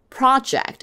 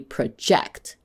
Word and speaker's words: project: Also, the same word in a different part of speech could be pronounced differently. For example, project is a noun, but as a verb, it will be project.